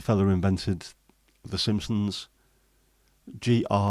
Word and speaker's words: Groening: I also don't like the fella who invented The Simpsons, Groening, which I would always look at as a Dutch name, as Groening, the Dutch version of greening.